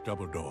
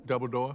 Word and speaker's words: Dumbledore: As you wish, Dumbledore. I'm Gandalf. It's pronounced Dumbledore. Dumbledore? No, Dumbledore. Thought you said Dumbledore.